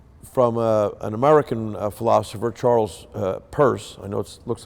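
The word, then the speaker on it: Peirce: pluralism from sorry from an American philosopher Charles purse I know it looks like it's no Pierce but he actually pronounced at first who claimed that science is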